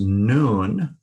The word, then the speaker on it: Nun: The N sound in Nun is pronounced as now.